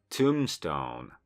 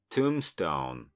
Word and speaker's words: tombstone: Tombstone. Tombstone. Tego B w środku nie wymawiamy.